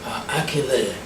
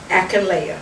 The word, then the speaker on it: Akinleye: Okay, the last name is actually pronounced, it's actually 2 syllables. Okay. Akinleye. Akinleye. That's it. And you're going to say it fast.